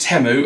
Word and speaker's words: Temu: Classic temu Special turned up and also it's pronounced temu according to one of my subscribers who told